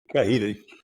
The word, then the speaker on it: Cajita: Cajita, Cajeta, Cajita.